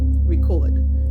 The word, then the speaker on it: record: The stress is on the second syllable, so it's a verb. But if someone says, "Oh, I still have records from the 80s." A record record. You hear the stress on the first syllable. So that's a noun.